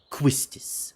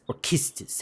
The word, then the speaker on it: Quistis: Quistis, or Kistis, however some people like to pronounce it.